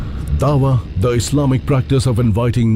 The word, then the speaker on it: dawa: Ayan Hi Ali, author of the challenge of dawa and a vocal critic of radical Islam highlights the fundamental role of dawa, the Islamic practice of procelitizing.